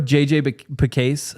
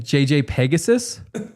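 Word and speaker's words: JJ Pegues: So, have you heard of JJ Pase, the uh the defensive lineman from Miss? JJ Pase. Oh, yeah. Yeah. Spelled with like a U and an E. Yeah. Yeah. Yeah. So, for for for months, for months, Dre has been saying JJ Pegasus, we all thought it was a bit.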